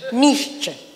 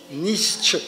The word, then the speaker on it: Nietzsche: ¿Y cómo se dice Nietzsche? Nietzsche. Nietzsche. Eso.